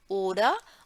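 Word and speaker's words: oder: ओडा, ओडा का मतलब होता है और, ओडा, आर का इसमें उच्चारण नहीं आता, ऑर्डर नहीं है, ओडा, ओडा स्पील्स दू, या फिर तुमको पसंद है क्या कंप्यूटर में खेलना?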